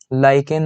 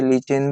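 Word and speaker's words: lichen: उसमें एक ट्री होता है लाइकेन नाम का, कुछ बच्चे लीचेन भी कहते हैं, जो भी आपकी प्रोनाउंसिएशन हो आप उस तरह से वर्ड को यूज करें।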